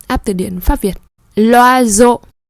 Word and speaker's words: l'oiseau: L'oiseau. S entre les deux consonne. Chữ S nó nằm ở giữa hai nguyên âm là I và E. Thế nên chúng ta đọc là Z. L'oiseau A, B ou C.